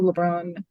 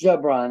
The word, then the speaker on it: Jabron: plaintiff hey thank you LeBron okay can LeBron State his name LeBron it's Jabron I'm sorry your honor the J oh okay sorry just